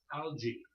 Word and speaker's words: alga: singular very often but notice the singular has a soft G and the plural has that I mean singular has a hard G and plural has a soft G alga alga why was so funny